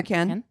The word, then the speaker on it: Furkan: Wait, how do you pronounce his first name again? it. What did I say? Furkan? Furkans? Okay. Furkan.